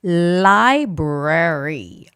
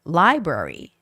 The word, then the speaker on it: library: Library. Yes. This is another tricky word because there's the L and the R sound together. So, it's got to be library. Library. The stress is on I.